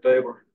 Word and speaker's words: Weber: And that's called, the Tesla meter squared is called a Weber. Okay. Or Weber, if you want to use German pronunciation of Taber's name.